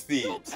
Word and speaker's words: Thebes: It's Thebes. That's how you say it.